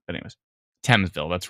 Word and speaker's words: Thamesville: didn't pronounce things wrong at least I got thamesville right this time I didn't say famesville even though I read it and there's a th and a m and e and s saying but